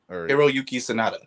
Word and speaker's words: Hiroyuki Sanada: Hiroyuki Sanada.